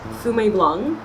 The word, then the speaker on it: Fumé Blanc: And you know, the reason I said that the second word is a tricky one is because here in the States, it is appropriate to pronounce it as Blanc. So a lot of people actually pronounce that C as a K here in the United States.